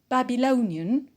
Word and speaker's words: Babylonian: once very great so the first word babylonian which is an adjective so we need to stress it and we put the stress on low because on the pin out because we have we have the alien suffix which is the line